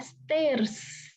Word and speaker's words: stairs: Oke, salah ya. Yang benar adalah stairs.